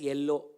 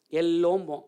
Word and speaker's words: yellow: If you write, all of us will spell it as yellow, because our Tamil influence is there. Enga ill irukko anga stress kudupom. Yellow. It's not yellow. It's yellow. The stress is on Y.